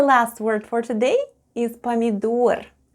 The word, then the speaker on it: помидор: With a stress on the last syllable.